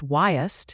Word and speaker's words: Wyost: Wyost (pronounced "Why-ost") "Why-ost") is a medication known by its generic name, denosumab-bbdz.